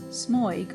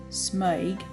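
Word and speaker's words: smøg: pages of historical examples smug or as it should be more correctly pronounced smug is Patton darling Patton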